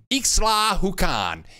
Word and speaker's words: Ixtlahuacan: There's the name of the town, Ixtlahuacan. Ixtlahuacan. Okay? So we're going there. I call my cousin. I ask her. H is silent. Like W.